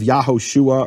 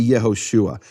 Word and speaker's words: Yehoshua: You can't have Yahoshua or Yahshua. It has to be Yehoshua.